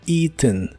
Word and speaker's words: eaten: en inglés es eaten se empieza pronunciando con la i larga o doble y la e del final es muy suave eaten algunos incluso la pronuncian de manera nazal al final y suena como eaten eaten ambas pronunciaciones eaten o eaten son comunes entonces comido en inglés